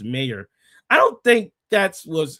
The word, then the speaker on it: Mayr: That's why she sweeps so hard and her last name is pronounced mayor.